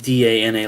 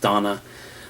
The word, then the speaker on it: Dana: credible that it's not even though it's spelled da na like dana it's supposed to be pronounced donna the e's games always